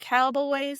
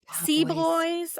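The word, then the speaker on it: C-Boy's: Cowboys. It's that little bars. Sea Boys. I call it Cowboys. Sea Boys. I've been calling it Cowboys this whole time.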